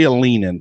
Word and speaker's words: Alinen: I say Alinen. Alinen? Okay. I've seen I've seen it pronounced a lot of ways, okay, but I can just say Alinen easier.